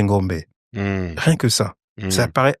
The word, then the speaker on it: Ngombé: Et moi, je m'amuse à dire dans mes masterclass, mon nom, on dit Ngombe, mon nom, c'est Ngombe.